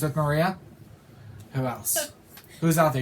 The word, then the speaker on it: Maria: Malia, rhymes with Maria.